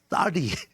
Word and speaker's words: 쌀: 이 살이 쌀이 경상도 발음은 쌀이 안 된다 그러는데 쌀 됩니다 저는.